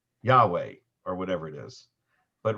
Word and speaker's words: Yahweh: the answer is that some language scholars believe that the vav was pronounced originally as a w well even today it's